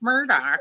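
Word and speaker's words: Murdaugh: going to be like, you know, that it's pronounced Murdoch and not Murdoch.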